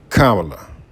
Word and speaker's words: Kamala: I believe it is pronounced correctly Kamala.